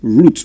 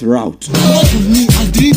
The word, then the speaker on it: route: language he or she will prefer to use the word root not route. Okay. So it's not route, it is root.